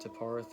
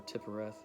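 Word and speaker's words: Tiphareth: is not the center i've heard it pronounced teparth or tippareth is not the central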